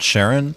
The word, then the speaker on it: Charon: Is it Sharon or Charon? Karen? Alive, are you? It's Karen with a silent H.